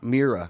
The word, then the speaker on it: Miura: Miura I'll get it. here. The Miura Mira.